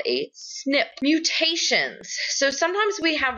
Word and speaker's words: SNP: It's pronounced a snip.